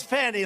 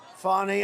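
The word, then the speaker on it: Fani: fny it's spelled Fanny it's spelled Fanny like your ass right Fanny but when she became da she decided to add a little French a little fancy fny fonny and you know fonny and Mr Mrs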